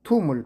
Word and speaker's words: tomb: Tomb 툼을 발음할 때 B가 생략이 되죠. 퉁 하고 발음해 줍니다.